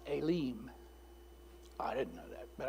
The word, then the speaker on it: Elim: called in my first instinct is to say Elam and it's pronounced elim I didn't know that but I did some research Aileen so elim Aileen however you want to say